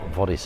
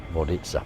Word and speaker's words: Vodice: Hope to um vitaa or vodis as it uh as it's spelled but it's actually vitza this is where we